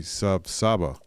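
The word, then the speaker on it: Sav'saaba: Young Garudo use Saba all the time, but technically the official greeting should be sab saba. The ba part is pronounced without biting your lip as you say it. Kind of like uh espanol. Ba ba. Well, feeling more informed now.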